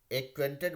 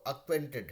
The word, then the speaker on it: acquainted: And the fifth sentence is, I got acquainted with the देखिएगा हम लोग एक्वेंटेड बोलते हैं, लेकिन वो अक्वेंटेड है। वो ए से जो भी होता है उसको आ होता है, आ प्रोनाउंस करते हैं, है ना, अक्वेंटेड, है ना, अक्वेंटेड।